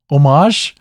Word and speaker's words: homage: for pronouncing things wrong omage homage homage I hate you it's spelled homage I hate you so much homage like herb yeah herb herb homage